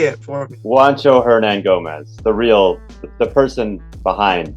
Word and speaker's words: Juancho Hernangomez: now that um skip you know i can't pronounce this man's name herman say it for me juancho hernan gomez the real the person behind voters essentially there